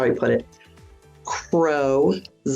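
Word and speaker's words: Crozet: out and this is how he put it Crow not cette so it looks like and it is spelled c r o z t many people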